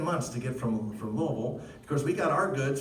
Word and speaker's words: Louisville: so king louis so that's why we're louisville and not louisville right because it's spelled lewis but it's king louis and i just say king look because i say louisville right and so then